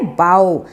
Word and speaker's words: bow: और यहाँ पे जो है BOW, उसका प्रोनाउंसिएशन भी है बाओ, बाओ डाउन।